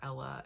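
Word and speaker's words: Elle: I hope it's not Ella and I'm saying it wrong. E L L E. I've always known E L E to be pronounced L.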